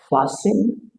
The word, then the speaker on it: fasten: Next, we turn to word ending with sten, as we have it in words like fasten, listen, Avoid saying fast, listen.